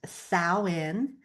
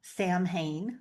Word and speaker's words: Samhain: And today we are stepping into the magic of Samhain, my favorite holiday. It is pronounced Samhain. It is not Samhain, which is what it looks like, but that's fun to say too.